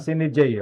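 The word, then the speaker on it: sine die: tama ba yung pronunciation? Tama, Sini J.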